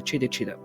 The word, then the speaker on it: Djitta Djitta: in Western Australia they call him the chter chitter spelled with a DJ by the way anyway